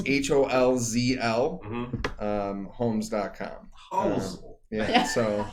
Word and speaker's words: Holzl: Holzl Homes at Gmail?